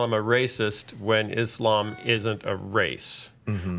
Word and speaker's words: Islam: I was corrected by our friend Solomon, who said I would keep pronouncing Islam wrong. And you say Islam. Islam. It's Islam. Islam. Islam. Islam. Islam. Not ish or idh. It's Islam. Oh, come on, though. On this side of the pond. Islam. Like Islamabad. Like Islamophobia, right? So it's just a matter of emphasis.